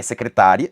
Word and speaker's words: secretária: Porque ele obviamente mostra que uma palavra é secretária e a outra palavra é secretaria, só que a pronúncia foi alterada nesse caso.